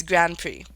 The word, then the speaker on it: Grand Prix: Mario Kart World Grand Prix gameplay. Nintendo Treehouse Live. I think I pronounced it Prix earlier, because that's how it's spelled. But, it's Grand Prix.